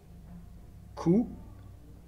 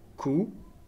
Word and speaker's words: coup: son ne pas carte coup coup on voit que il y à un pea la fin mais c'est une lettre muette donc on ne l'a prononcent pas sac et le dernier